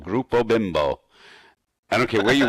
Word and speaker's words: Bimbo: eating a bunch of bimbos yeah right what that's pronounced bimbo bbo oh bimbo hi